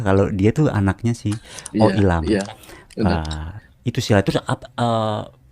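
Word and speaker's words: Oh Il-nam: yang si kaki-kaki itu namanya oilmam oilam oilam bacanya oilam ya bacanya oilam oilam Ya oke oilam dan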